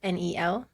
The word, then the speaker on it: colonel: So it's the pronunciation of like the spelling of the actual colonel in the military, which is Kernel.